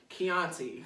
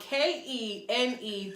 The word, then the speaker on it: Kenetra: And she was like, Chianti. I'm like, who the fuck? Like, my name is spelled Kenetra.